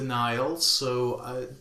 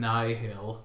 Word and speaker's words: Nihil: I think Marchion Ro in the audiobook calls them Nihil, but the other people call them Nile. Well, it's spelt Nihil. It is, like nihilism.